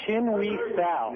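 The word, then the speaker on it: Chin-hui Tsao: It's Chin-Wee Sal.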